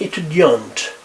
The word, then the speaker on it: étudiante: In this case, we pronounce the T.